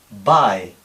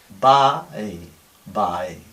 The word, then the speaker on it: bye: como aquí ae Bye un hispano hablante diría by con la a y la i clarísimas pero no es así es Bye bae bae la i es claramente más suave y más tirando a e y más corta que la española esta a pues la